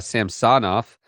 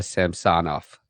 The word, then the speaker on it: Samsonov: It's not Samsonov. It's Samsonov. No, they kept referring to him as Ilya Samsonov. Okay. The emphasis is on some another syllable, apparently.